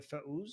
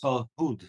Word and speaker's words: Farhud: The Fauz? Farhud. So they spell it in English Farhud.